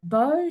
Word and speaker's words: Beau: Like, his name's Beau. Am I pronouncing that correctly? Yes, Beau, that's correct.